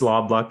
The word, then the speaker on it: Loblaw: VP of one of Canada's largest retail organizations, Loblaw. Have I pronounced that one correctly? Yeah, it's Loblaw Companies Limited.